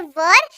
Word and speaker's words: were: इसको पढ़ते हैं वर, क्या पढ़ते हैं, इसको पढ़ते हैं वर, और ये उस वाक्य के अंत में इस्तेमाल होता है जिसके अंत में आपको थे दिखे।